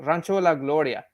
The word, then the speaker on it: Rancho La Gloria: about the whole uh what is it called rancho la gloria which by the way that's how you pronounce that but it's cool uh it's it's